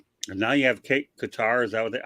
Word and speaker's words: Qatar: okay pretty much right and now you have Qatar is that how they pronounce it yeah guitar okay investing into the Washington teams of all